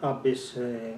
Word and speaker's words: Abbes: Pronunciado a la española, Johnny Abbes García.